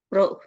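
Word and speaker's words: Proust: Yang kedua adalah hukum perbandingan tetap atau hukum Pro ya. Ini ditulisnya hukum pros, dibacanya pro.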